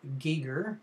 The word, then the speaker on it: Giger: Giger, as it's pronounced, and full of lots of very disturbing